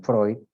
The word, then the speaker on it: Freud: fue creado por Simón Freud ya se pronuncia Freud no Freud muchas veces escucho a los alumnos decir Freud es Freud y aquí pues nos habla